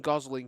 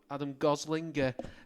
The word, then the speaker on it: Gosling: Joined by Adam Gosling, pronounced like Ryan Gosling, I believe.